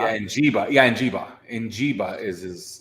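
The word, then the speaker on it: Smith-Njigba: I have a problem pronouncing his name. Smith Njiba, is it not? Yeah, Njiba.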